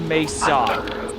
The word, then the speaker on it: Mesa: Yeah, anyone who's played Half-Life knows it's pronounced Mesa.